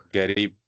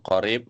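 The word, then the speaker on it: قريب: Dan sedikit ee tips di sini kalau antum dengar orang Arab terkadang ya sebagian mereka mengucapkan huruf qf itu dengan G ya. terkadang ya garib gitu ya. Jadi harusnya yang betul qarib mereka bilang garib.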